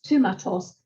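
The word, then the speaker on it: θύματος: In Attic Greek, it's thumatos, theta, upsilon, mu, alpha, tau, omicron, sigma.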